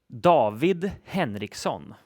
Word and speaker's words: David Henriksson: the correct Swedish pronunciation is? David Henriksson.